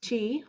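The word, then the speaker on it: qi: Now, if you noticed, you might would have heard the word ki, K-I, before. That's also spelled Q-I, and it's also sometimes pronounced chi, like Tai Chi or prana.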